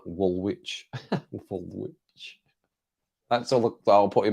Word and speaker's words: Woolwich: Second W is silent.